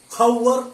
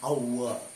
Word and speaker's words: hour: പക്ഷേ ഹവർ എന്ന് പറയാറില്ല. എച്ചിന് ഉച്ചാരണമില്ല, എച്ച് സൈലന്റ് ആണ്. ഔവർ, an hour.